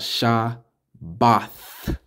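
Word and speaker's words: שבת: that so right here the Hebrew word for Shabbat is Shah t-h-a da not ta not t a but Tha Shah ba ta So when you say it all together you got Shah both Shah both with a th at the end not just a t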